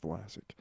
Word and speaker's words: Vlasic: Classic rhymes with Vlasic.